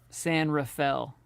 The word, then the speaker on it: San Rafael: raphael i think sacramento and then san rafael san rafael is what they say yeah are you setting